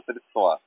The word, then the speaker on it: средства: Не средства, а средства.